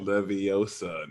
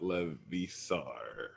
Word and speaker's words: Leviosa: Leviosa, not Levisar.